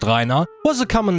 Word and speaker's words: Rhinar: You see, when I was a kid in the 90s, Rhinar, pronounced Rhinar, was a common name to hear around where I grew up.